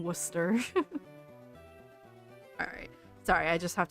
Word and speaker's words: Worcester: It's kind of how you don't pronounce the C in Worcester.